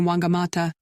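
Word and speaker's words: Whangamatā: watch the Surfers Brave the crashing waves in wangamata in the Maori language the Deutsch is pronounced like an f wangamata and whitianga roll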